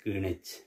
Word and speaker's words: Greenwich: We are pronouncing it as the Greenwich.